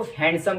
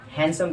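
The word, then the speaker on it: handsome: ज़्यादातर लोग इसको हैंडसम कहते हैं, जैसे यू आर हैंडसम, तो हैंडसम नहीं कहना, हैंडसम कहना है। इसमें जो डी होता है साइलेंट होता है, हैंडसम।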